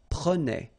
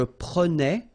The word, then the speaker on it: prenais: So same thing here, final S not pronounced.